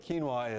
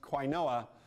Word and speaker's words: quinoa: Anyway, fortunately, the joke about quinoa is a meta joke, so you don't actually have to know what quinoa is to get the joke.